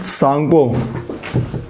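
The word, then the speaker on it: Tsangpo: मैप देखो यहां पर इसका नाम है सांप ठीक है तप बोलते हैं इसको साप बोलते लेन स्पेलिंग टी से स्टार्ट होती है यहां पर नामचा बरवा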